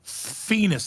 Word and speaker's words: Phoenix: It's Phoenix, like penis with an F, okay.